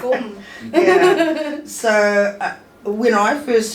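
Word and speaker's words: Gqom: Gom. I don't know how to say it. Okay, it's gum.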